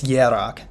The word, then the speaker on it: Hierarch: I keep like pronouncing the K sound. I know it's Hierarch.